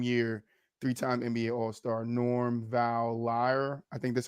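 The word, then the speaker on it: Van Lier: day, same year, 3-time NBA All-Star Norm Val Lyer. I think that's how you say his name. Norm Van Lyer More died Van at 61. Leer. Van Leer.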